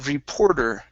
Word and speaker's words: reporter: Okay, the word reporter. Okay, make sure to pronounce this ER at the end. A reporter. A reporter. Okay, one more time. So we're going to use a flap T here.